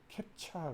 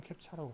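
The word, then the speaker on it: CAPTCHA: 최근에 와서는 우리가 이거 캡차 그러죠. 발음 캡차라고 하죠.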